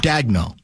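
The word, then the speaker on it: Daigneault: Do you pronounce it Dagno? I think so, Mark yeah. Dagno.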